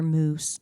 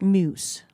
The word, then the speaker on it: muse: have to find another moose Muse Muse Muse Muse find another moose what find another moose a a muse Muse mu yeah that's what I have but I just didn't pronounce it properly inspiration you know uh